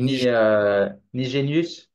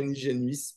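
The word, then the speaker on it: Nijenhuis: jamais prononcer le nom mais qui s'écrit ni Génius et voilà mais qui doit pas se proncer comme ça paraît-il mais je ne suis pas néerlandophone je dirais niigénuis pardon euh mais donc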